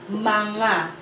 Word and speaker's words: mga: The pronunciation is like ma and then nga, manga. But we use this spelling.